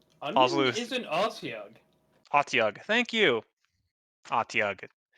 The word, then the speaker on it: Otyug: Otyug. Thank you. Otyug.